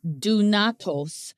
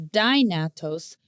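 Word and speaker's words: δυνατός: Now, this Greek word possible is dunatos, sometimes pronounced as dynatos.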